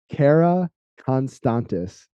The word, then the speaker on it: Karakonstantis: special guest in Long Island New York Cara constantes how are you man I'm good thank you for having me perfect pronunciation by the way of course I was